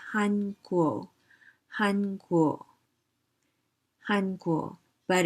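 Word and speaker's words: 韩国: the first row is the chinese character it's pronounced in chinese says han guo han guo han guo but in korean going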